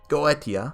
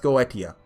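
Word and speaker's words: Goetia: want to say that I've looked that one up I've come to the conclusion it's pronounced go idea I've heard people say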